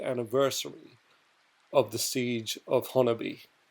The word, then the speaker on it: Honobia: of the siege of honi now I know most people don't know how to pronounce that but according to the locals of Oklahoma of that area it is Hony and uh let me